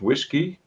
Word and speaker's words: WSGI: it can you provide an example of what we pronounce it whiskey is good for wsgi and maybe that's more